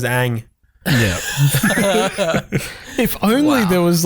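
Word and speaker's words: Aang: Like Ung. Ung. It's like, you've got 3 seasons of a show where his name is Ang.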